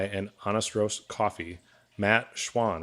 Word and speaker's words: Schwahn: both northbound supply and honest roast coffee matt schwann right that's how you pronounce it yeah you got it man good